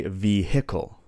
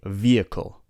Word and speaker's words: vehicle: For example, we don't say vehicle. We say vehicle. The H is silent. We say exhausted, ghost, hour, and honest. We don't say hour. We don't say honest. The H is silent, so we say hour or honest.